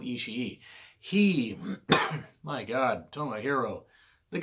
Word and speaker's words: Ishii: He's got 2 I's at the end of his name, and I've heard people pronounce it both ways, so I'm going to go with Ishii.